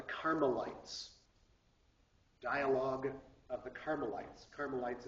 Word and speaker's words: Carmelites: dialog of the carites carites is c a r m l i t s uh and a u